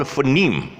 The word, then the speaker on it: phoneme: pronounce it as um most people pronounce it as phone me phone me instead of phoneme can you see that